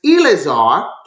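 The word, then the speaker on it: Eliezer: childish and the heir of my house is Eleazar and pronounce it correctly El ilizir um the air by houses of Damascus Abram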